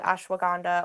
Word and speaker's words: ashwagandha: Yeah, that second one is, how do you pronounce that? Ashwagandha.